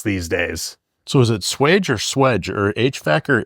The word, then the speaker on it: swage: Do you say swage or swedge? Swedge. Yeah. It's spelled swage.